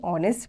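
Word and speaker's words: honest: यू एन इंक pot with you before a silent H एज ही वाज एंड are late he इज एन ऑनेस्ट person अब एन तो आपको पता ही है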